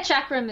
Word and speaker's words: chakram: wait how do you say that perk yeah chakram is how it is in the way and